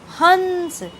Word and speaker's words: हंस: चिन्ह होता है जैसे हंस अगर आप हंस बोलेंगे तो यह नाक में से ध्वनि निकलते हुई प्रतीत होगी जैसे हंस घंटी लेकिन